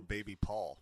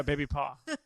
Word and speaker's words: Baby Paw: And all these used to call people Baby Paul. Yeah, Baby Paw. No, not Paul. Baby. Not Paul. Baby, I always thought you were saying Baby Paul. Baby Paw. I would like to imagine Baby Paw. It rhymes with a lot.